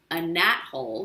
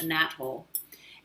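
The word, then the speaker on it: anethole: star nice is called a nat hole which is spelled a little bit different than it sounds but it's called a nat hole and that gives it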